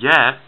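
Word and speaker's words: ي: yeah yeah okay and yeah it is like the letter y it goes yeah and just like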